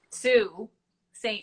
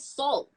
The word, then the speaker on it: Sault Ste. Marie: To this day, Heather, I cannot pronounce it properly. Sault Ste. Marie. What was that? Sault Ste. Marie. Sault. Okay, because I said salt, like everybody says because that.